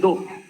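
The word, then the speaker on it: 道: Y finalmente el Do, prácticamente la filosofía japonesa del Do, del camino. Por ejemplo, Karate Do, Kendo, Judo, Aikido, en fin, todo termina en Do, es un objetivo final, es una meta.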